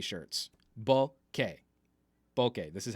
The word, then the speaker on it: bokeh: Only for the month of April, for my April Fool's joke, are we doing the bokeh shirts. Bokeh. Bokeh. This is how it's pronounced.